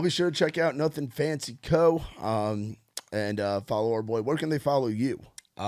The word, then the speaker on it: Nuthin Fancy: I'm like, but yeah, I just say Nuthin Fancy, but obviously it's spelled different.